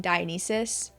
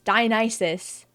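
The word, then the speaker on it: Dionysus: into the Habit in my life of saying dianis I know cuz I've said it multiple times in past videos and I really need to break the Habit because it's diis diis so bear with me if I accidentally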